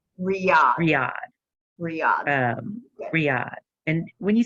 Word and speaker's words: Riyadh: It's Radan, but I can't. I'm pronouncing it wrong. Riyadh.